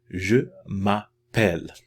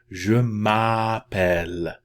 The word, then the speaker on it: Je m'appelle: The A in French is most always pronounced like an ah, right? Very wide open. Open your mouth. Okay? Je m'appelle.